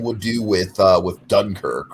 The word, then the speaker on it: Dunkirk: of bothers me you're saying it wrong it's dunkirk okay i feel like i feel like daniel